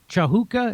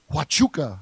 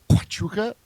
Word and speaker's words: Huachuca: He was at that Camp Chahuka. Is that how you say it? Wahuka? Huachuca. Wachuca. That's how you say it. Huachuca.